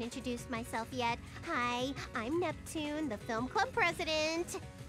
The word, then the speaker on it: Neptune: Hi, I'm Neptune, the film club president. Neptuna! What? I knew it was too good to be true. I'm never gonna be in a game where everyone pronounces my name right.